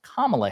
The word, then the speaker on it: Kamala: because she has been told like hey it's pronounced Kamala Harris and she said on CNN I'll call